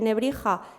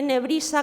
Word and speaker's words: Nebrija: A partir de ahí, lo que ocurre es lo que le ocurre a las silbantes, a las X, S en latín, en castellano, perdón, del 15 y del 16, que terminarían pronunciándose como una J. De tal manera que de ese Antonius Nebrisensis se coge el nombre español, Antonio, se mantiene Nebrija como si fuera español, que no debería haber sido, y se comienza a pronunciar Antonio de Nebrija.